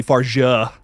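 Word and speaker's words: Fargeat: of Damen Leoni and corly far which that is actually how you pronounce her last name ignore what I say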